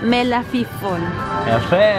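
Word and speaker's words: מלפפון: Pepinillos en hebreo se dice melafifón.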